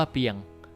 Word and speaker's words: เปรียง: แลก กับ เปรียง เน่า อ่าน ว่า เปรียง มี 3 ความ หมาย